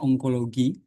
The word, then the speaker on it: onkologi: Tulisannya bacanya onkologi.